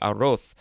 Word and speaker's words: arroz: The pronunciation guide actually says arroz, like a TH sound, arroz.